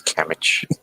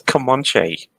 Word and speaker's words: Comanche: Because I want to read this Camich. What the? That's Comanche.